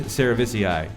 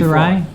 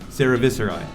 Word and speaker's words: cerevisiae: And this one is Saccharomyces cerevisiae, Saccharomyces. which is top fermenting ale yeast, which came up in the conversation earlier. I think your point scale is What? vastly Viscerae? Cerevisiae.